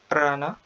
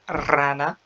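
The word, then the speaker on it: rana: فمثلا أول كلمة هي بتتنطق مش رانا غلط، هي رانا.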